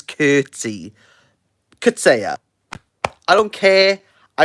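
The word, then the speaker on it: Coetzee: time you have CA they say curtsy they say his name is curtsy CA I don't care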